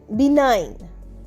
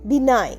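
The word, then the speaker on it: benign: Next হচ্ছে বিনাইন। বি ই এন আই জি এন বিনাইন। এখানে কিন্তু জি এর উচ্চারণ হচ্ছে না।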